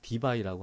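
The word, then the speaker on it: debye: 단위를 dby라고 합니다. dby. 예. d라고 쓰고 얘를 dby라고 읽습니다. 이제 원래는 예, dby 요거의 약자가 d예요.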